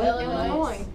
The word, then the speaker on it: Illinois: Illinois. It's Illinois. It has an S on it. Illinois. Okay. It's French. Okay. It's French. It's silent.